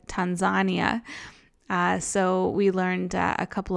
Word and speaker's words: Tanzania: And Tanzania is actually said Tanzania.